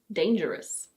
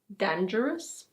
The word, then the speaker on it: dangerous: This word is: dangerous. It's not "dan-ger-ous".